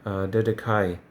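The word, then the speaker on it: Dedacciai: There is Columbus in Italy, and I think Italy has a third one, Dedekai, it's pronounced.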